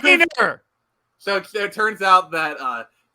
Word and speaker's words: Rayner: How you doing, Rainier? And it's pronounced Rainer.